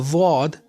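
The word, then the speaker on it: ضاد: A dhad makes a th sound. This is the most difficult letter to pronounce properly. It's almost like a za, but in a dhad, the right back side of the tongue touches the gums of the back teeth.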